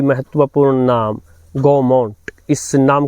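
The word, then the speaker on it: Gaumont: देना जरूरी है कि यह जो नाम है गोमट असल में यह फ्रेंच भाषा का नाम है और इसका वास्तविक उच्चारण प्रोनंसिएशन जो है वह है गोमू और यह गोमू जो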